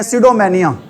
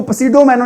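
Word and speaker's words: pseudomania: सीडो मेनिया ठीक है ध्यान रखना पी वर्ड है य पर पी वर्ड क्या अभी साइलेंट है वर्ड क्या है अभी यहां पर साइलेंट है इसको पडो मेनो नहीं बोलना क्या बोलना है आपने इसको सीडो मेनिया बोलना है क्या होता है सीडो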